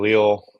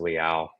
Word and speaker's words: Leal: We grew up saying Leo. When you get around some other people they pronounce it Leal.